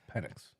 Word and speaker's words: Penix: But Penix, he could easily fall to the second round. It's Penix.